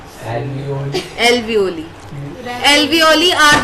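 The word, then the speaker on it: alveoli: पढ़ो तुम्हारा प्रोनाउंसिएशन पता लगेगा समाज को। एलोवियोल एल्वियोली ऐसे एल्वियोली क्या बोलते हैं?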